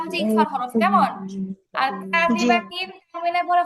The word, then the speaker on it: كاذبة: তারপরে কাযিবাতিন বাতে টান নাই, কাযিবা এরকম বলা যাবে না।